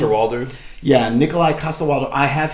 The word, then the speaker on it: Coster-Waldau: Coster-Waldau.